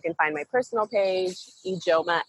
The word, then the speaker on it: Ijeoma: Ijeoma, I said it right, correct? Yeah, Ijeoma, Nigerian.